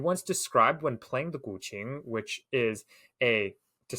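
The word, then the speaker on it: guqin: and you also mentioned this earlier with the guing the the seven string Chinese instrument I'm curious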